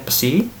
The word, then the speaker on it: psi: Nah, sehingga kita bisa menentukan persamaannya Jadi flux total, ini flux kita simbolkan dengan psi ini, ya dibacanya psi, sama dengan ya sebanding dengan muatan total lagi, ya yang dilingkupi permukaan.